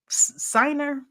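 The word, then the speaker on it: Sinner: um it looks like his name is is spelled Center but I think it's I think they pronounced it siner or some something but congratulations to you the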